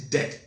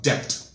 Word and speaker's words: debt: The word is debt. D-E-B-T. It's not debt. The B is always silent. It is never pronounced.